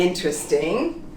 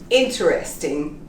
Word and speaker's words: interesting: is very interesting because when you enunciate this word it becomes interesting the painting on the wall is interesting or perhaps that person is interesting but usually when we speak we say interesting i would like to